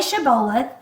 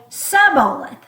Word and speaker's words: shibboleth: of it is that they told them to say shibboleth, and then they would say suboleth without the sh. So it wasn't sh, it was just s.